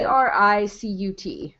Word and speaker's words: Cricut: Cricut. Yeah. And it's Cricut. It's pronounced Cricut.